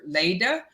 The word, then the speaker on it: Laita: So I want to give props to the guy whose name is Mark Leda. It looks like it's spelled Laita, but it's Leda.